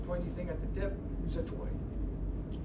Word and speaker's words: xiphoid: We got the sternum, manubrium, gladiolus, and the pointy thing at the tip, xiphoid. It's spelled with an X, but it's pronounced like Z.